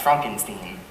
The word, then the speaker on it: Frankenstein: week okay that's um my name is pronounced Frankenstein I know it's Transylvania